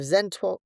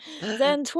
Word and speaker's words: Zeno: Three, we have Zento. Zento and the scare. Whoa. You said it wrong again. Zeno.